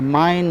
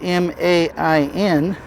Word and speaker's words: Main: river the mine River when I first saw the name of the river which is spelled m a i n I thought it was the main river but everybody calls it the mine River like mine there's an RV park